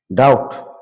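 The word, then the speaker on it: doubt: Be silent word, এখানে আমরা দেখতে পাচ্ছি বি সাইলেন্ট ওয়ার্ড কোন কোন শব্দে বি লেটারটা উচ্চারিত হবে না, সাইলেন্ট থেকে যাবে। কম মানে চিরুনি, ল্যাম মানে ভেড়া, টম মানে সমাধি, থাম মানে বৃদ্ধাঙ্গুল, বোম মানে বোমা, লিম মানে অঙ্গ প্রত্যঙ্গ, ডেট মানে দেনা, ডাউট মানে সন্দেহ।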